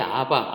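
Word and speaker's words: אבא: 근데 거기 아바 앞에 나오는 아빠라는 말은 아람어 아바예요. 우리말 아빠랑 똑같아요. 발음이.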